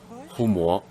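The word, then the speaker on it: 護摩: The Homa we're interested in should be written like this and pronounced Humo.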